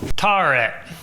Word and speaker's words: Tawret: How do you pronounce that, Sam? Tarret.